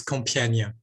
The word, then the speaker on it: Compiègne: Too hard for English-speaking people, but it's Compiègne.